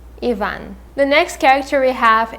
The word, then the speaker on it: Ivan: in the story is the homeless ivan i guess you would say in english and in russian we will say ivan ivan the next character we